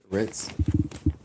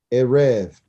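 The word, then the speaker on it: ערב: Ritz. Very good. Very close. It's Erev.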